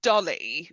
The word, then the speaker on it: DALL-E: amalgamation into Dary or I think it's produced darlly even though it's spelled Dary um it reminds me